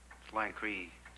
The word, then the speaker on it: Lancer: Then our branch started spelling it L-A-N-C-E-R. Lankry. I suppose the Hill people came to pronounce it that way.